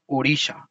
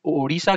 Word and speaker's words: ओडिशा: क्योंकि ओडिशा के जो लोग हैं, यहाँ के जो लोग हैं, उनका प्रोनाउंसिएशन जो है वो ड़ ज्यादा आता था।